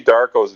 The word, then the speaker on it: DVRKO: You can see Darko's videos on YouTube, and his name is spelled DVRKO, but he spells, he says it Darko.